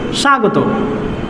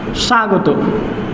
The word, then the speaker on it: স্বাগত: ব ফলা শুরুতে আছে ব ফলা শুরুতে থাকলে কি হবে উচ্চারণ হবে না তবে স্বাগত এটা এস এইচ এর মতো আসছে তাহলে এটা হবে সা গ ত স্বাগত স্বাগত এই উচ্চারণটা হবে এরকম